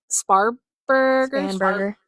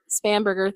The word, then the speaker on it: Spanberger: And just for So- anyone who's curious, I still voted in Virginia, and we're going to put in Abigail Spanberger. Spanberger, thank you.